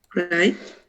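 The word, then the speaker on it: write: Right? Yeah, it's not right. Es como montar. Right. Right. We never pronounce W. La W no se pronuncia, sino right.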